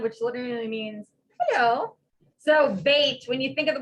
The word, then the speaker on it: Beit: So bait, when you think of the word bait, it's always going to mean house. Beet, like the vegetable, is a daughter, and bean, like a beanie, is a son.